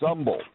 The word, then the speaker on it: Humble: Katy Texas actually it's humble it's a it's spelled like humble but the H is silent so if you ever